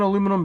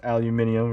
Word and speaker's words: aluminium: discovered it first and they pronounced it aluminium not aluminum all right he's gonna